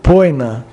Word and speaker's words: poena: pronuncia-se rosai ou ros poena pena pronuncia poina ou pena aurum pronuncia-se aurum ouro